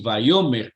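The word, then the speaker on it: ויאמר: nuestro alfabeto Sí bayomer yo lo pronunció así bayomer como con v pero se transmitirá Generalmente con ese con esa W me llamó mucho la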